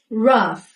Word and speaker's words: rough: pronounce သည် verb ဖြစ်ပေမယ့်သူ့ရဲ့နောင်းသည် pronouncation မဟုတ်ပါဘူး။ Pronunciation Prunciation Pronounciation အသံထွက်လို့အဓိပ္ပါယ်ရပါတယ်။နောက်ထပ်တစ်ခုကတော့သူ့ကို နောက်ထပ်တစ်ခုကတော့သူ့ကို gင်နဲ့ဆုံးတယ်ဆိုပြီးတော့ဂျစ်ဒီလိုမျိုးအသံမှားထွက်နေကြတာတွေ့ရပါတယ်သူ့ရဲ့အသံထွက်အမှန်ကတော့ rough roughသံနဲ့ဆုံးမမှာဖြစ်ပါတယ် rough ကြမ်းတမ်းသောဆိုတဲ့အဓိပ္ပာယ်ပါ very rough သူ့ရဲ့လက်တွေအရမ်းကျန်ခင်နောက်ဆုံးစကားလုံးလေးကတော့ပါသူ့မှာနောက်ဆုံးရှိတဲ့ final bellent